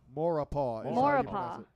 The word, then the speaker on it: Maurepas: Maurepas. Maurepas. is how you Maurepas.